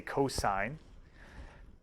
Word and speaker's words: cosine: side over the hypotenuse cosine which is abbreviates cos but we say cosine cosine of the angle